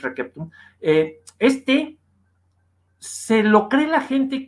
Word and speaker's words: receptum: Y ese textum receptum, ese textus receptus, ese o receptus, que luego mal pronuncian, porque el buen latín es receptum, se lo cree la